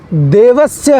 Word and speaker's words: देवस्य: बोल दिया जाता है देवस्य है देवस्य नहीं स है श नहीं देवस्य इन उच्चारण का ध्यान रखना बहुत आवश्यक है स होता है श नहीं और सुव नहीं